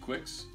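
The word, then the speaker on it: Quix: you guys know what kicks is quicks q is if you can pronounce it quick soar kicks isn't it it's cute qu IX oh it's just oh yeah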